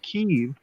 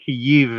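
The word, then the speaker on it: Kyiv: that doesn't exist called key it's two syllables in both Languages by the way Kiev in Ukrainian and you have in Russian but if you hear people saying key you've just turn it off these are people that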